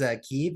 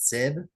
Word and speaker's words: Keeb: I honestly like Connie, yours is Keeb, and for like years I was calling it Sib, but I learned it was actually called Keeb.